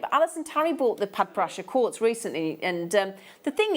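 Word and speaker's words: Padparadscha: times that we've said I could never say it, Padparasha Sapphire. It's spelled very new, but it's Padparasha Sapphire.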